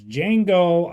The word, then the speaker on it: Django: okay well let's talk about it that was Jango Unchained and I'm so thankful that I can